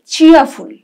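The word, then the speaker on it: cheerful: তাহলে বললাম original actual Real এরপরের শব্দ হচ্ছে চিয়াফুল চিয়াফুল র টা কিন্তু অতটা কম বলতে হবে র এর উচ্চারণ কম হবে চিয়ারফুল বলবো না বলবো চিয়ারফুল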